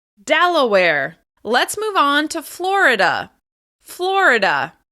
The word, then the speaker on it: Florida: Let's move on to Florida. Florida. As you can hear, Florida is also stressed on the first syllable.